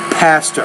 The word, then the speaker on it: pastor: engaged civil rights leader the word there be careful the word past her you had to pronounce with a little more air with the p pastor all right let's read